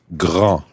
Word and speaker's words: grand: we're going to look at is the word Gra no you know what gra means already yes